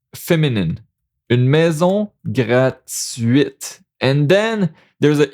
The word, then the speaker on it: gratuite: It's not like the T is at the end of the word, like a silent letter at the end of the words. So gratuit, but the T here is not the last letter. So gratuite. Gratuite.